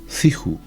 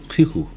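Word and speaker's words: 知乎: En chino se pronuncia, y lo voy a leer porque se llama Ciju. Ciju, es algo así como decir eso. Ese foro es muy conocido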